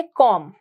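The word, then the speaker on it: calm: पर साइलेंट हो जाएगा सिमिलरली काम यहां पर भी हम एल को क्या रखेंगे साइलेंट इस केस में अगर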